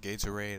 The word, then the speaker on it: Gatorade: d e that is that's how you say Gator I think well yeah um I'm I'm sorry to say this but our language is not phonetic and it seriously is pronounced Gatorade I'll show you commercial after the show's over